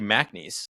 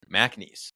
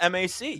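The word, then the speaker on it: McNeese: the Clemson mcnees matchup it's actually mnes if you know that really yeah I did not know that and then at work we were we were told pronunciation Maes for our sports updates I was like interesting I was like it's not Mac yeah but Macha cheese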